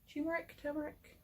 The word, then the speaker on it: turmeric: Turmeric. It's got an R in it.